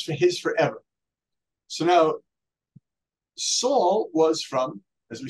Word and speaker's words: Saul: When King Saul, as you pronounce it, Shaul, when King Saul became